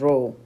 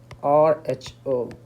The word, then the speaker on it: rho: resistivity is denoted by this term which is pronounced as rho rho this is pronounced rho rule and this is